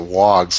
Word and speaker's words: warg: Oh yeah, they call those guys wargs. It's spelled out on my closed caption as WARG. Oh, yeah, but they pronounce it wogs like it's WOG with Yeah, their because they're accent.